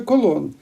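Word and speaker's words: Colón: на березі Карибського моря називається колон що відповідає іспанській вимові прізвище Великого мандрівника foreign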